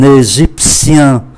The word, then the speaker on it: égyptien: Ai Cập là un égyptien, phát âm là sien, un laotien, viết là T-I-E-N, T-I-E-N phát âm là sien, un égyptien, un laotien.